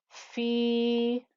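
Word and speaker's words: فِي: We have a fa with a kasra and a ya, so that's the 2-count stretch. Fi.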